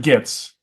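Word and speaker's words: Gittes: I I prefer the John Houston way of pronouncing the name. Arthur Mr. Gits. Gits.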